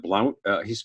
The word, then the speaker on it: Blount: Jeb Blount, Jeb Blunt. It's spelled B-L-O-U-N-T, fanatical prospecting and objections.